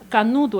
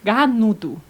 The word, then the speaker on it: canudo: Canudo é esse que usa para beber, né? Eu sempre achei que era ganudo.